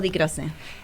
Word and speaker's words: Di Croce: ¿Es Di Croce o Di Croce?